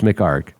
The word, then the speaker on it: McHargue: me do not spell do not pronounce those last two letters it's McHargue do you know how